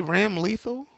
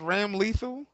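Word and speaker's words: Ramlethal: Wouldn't it be Ram Lethal? Yo, shut up, yo. He's like, what? Yeah, her name, wouldn't it be pronounced Ram Lethal?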